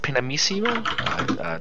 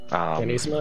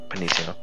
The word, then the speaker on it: pianissimo: I believe it's pronounced Pinamissimo, the double P, piano. Yes. Pianissimo, yeah. Pianissimo.